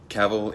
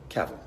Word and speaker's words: Cavill: Cavill is pronounced like travel. Travel. Cavill.